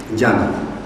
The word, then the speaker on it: Gianna: Diana, pronunciando la G de forma suave, librándola de esa aspereza que el castellano posee, paseando con las manos